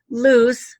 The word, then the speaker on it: Luce: of started going south loose by the way means light in Italian it's Luce and in Spanish it's loose but spelled Lu Zhi either way loose the character had said